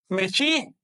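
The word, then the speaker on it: Mēxihco: Su pronunciación correcta en náhuatl es Mexico. Pero su escritura, la escritura de los curas, fue Mexico.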